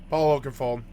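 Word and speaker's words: Paul Oakenfold: Rave EDM love happened forever show your city that meant only one thing Paul if it doesn't rhyme you're not pronouncing it right Paul Oakenfald Paul Oakenfald Get it?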